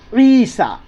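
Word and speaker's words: عيسى: कुरान में लिखा होगा ईसा क्या लिखा है ईसा क्या लिखा हुआ है बच्चों ई सा न या जर ई सीन खड़ा जबर सा तो ये या साइलेंट होता यह पढ़ नहीं जाएगा तो क्या है पढ़ने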